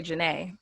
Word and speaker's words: Janay: i'm so excited to have the lovely jonay that's how i'm pronouncing it right does that sound i mean that's super fancy i would just say janae okay okay okay here on the program who